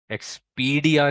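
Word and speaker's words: Expedia: एक्सपीडिया नहीं है, एक्सपीडिया नहीं है, इट्स एक्सपीडिया, ठीक है। ये प्रोनाउंसिएशन आप लोगों ने फॉलो करनी है।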